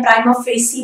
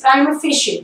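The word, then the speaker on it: prima facie: प्राइमा फेशे, कुछ लोग इसको प्राइमा फेशे बोलते हैं, प्राइमा फेसी बोलते हैं, या फिर परिमा फेसी बोलते हैं. These are नॉट the right pronunciation. The right pronunciation is प्राइमा फेशे.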